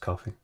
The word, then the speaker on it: Ko-fi: yeah uh so yeah is it is it just pronounced coffee they've separated like wi-fi the idea is like